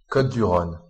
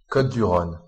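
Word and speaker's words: Côtes-du-Rhône: Côte-du-Rhône. Côte-du-Rhône. And the renowned wines of Côte-du-Rhône.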